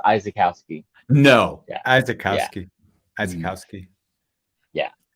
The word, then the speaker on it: Izykowski: very close but my my last name is actually pronounced izakowski no yeah azakovsky azkowski